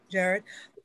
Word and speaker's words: Jared: meetings sorry thank you yes uh jared is how you pronounce my name jared um are you familiar